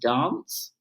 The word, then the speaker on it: DNCE: Oh yeah, but it's by DNCE, which I believe is pronounced dance.